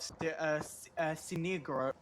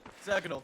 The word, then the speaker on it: Sergnal: But when you do have your medium down on the floor of Sinigro, I'm going to pronounce his name eventually, but when your medium's down, it's not handy. Sergnal. Sergnal, thank you.